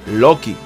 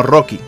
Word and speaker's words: Loki: Sí, Loki, no Rocky, como lo llamaron en el doblaje. Pasa que los japoneses pronuncian Doki, y los encargados del doblaje pensaron que era Rocky.